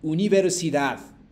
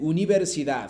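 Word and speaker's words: universidad: けども強くへこの d の最後は発音しないでこうちょっと聞こえるぐらいですね私も内海ますねウニベルシダコーダー d イメージですねウニベルシダバーディべルター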